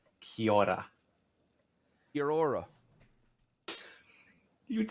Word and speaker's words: Kia ora: Oh, it's like kia ora, but it's Kia ora. Kia ora. Kia ora.